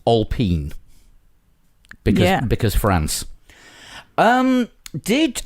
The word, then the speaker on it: Alpine: Alpine, although it's pronounced Alpine because because France.